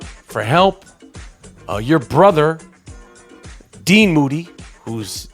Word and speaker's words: Moody: As promised, G Moody, last name rhymes with duty.